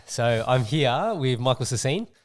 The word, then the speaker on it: Sassine: all right so I'm here with Michael sassine say good day thanks for having me is that the correct pronunciation that's it yeah and what what what